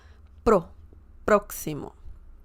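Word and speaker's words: próximo: El proximo proximo okay you have the emphasis on this on the first syllable Pro proximo excellent for example El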